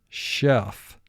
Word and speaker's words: chef: in the word school ch with a dotted line under it represents the sound sh as in chef gh represents the sound